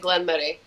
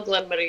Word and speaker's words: Glen Moray: Well, the Scottish, the Scots do pronounce it Glen Moray, like Murray.